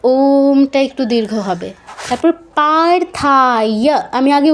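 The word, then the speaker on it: পার্থ: কি আছে? পারথা। ঠিক আছে? পাতে দীর্ঘ হবে। থাতে দীর্ঘ হবে। যেহেতু আকার আছে। তারপর অবথায় বলবো না। ই আছে ই বলতে হবে।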